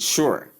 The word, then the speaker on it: sure: This is how I pronounce it, sure. Sure. You can see it over here. Let me zoom so you can see it clearly. The sound on top here should sound with short U sound with the sure sound.